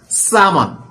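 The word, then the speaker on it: salmon: so correct pronunciation is সামন সমন here silent L viewers another recipe of ইউকে সো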